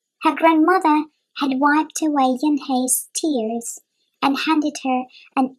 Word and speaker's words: Unhei: "Ohne?" the girl asked, scrunching up her face. Ohne," some kids chanted. No, Yunhei corrected. "It's spelled U-N-H-E-I. It's pronounced Yunhei." "Ah, it's you-hei," the boy said.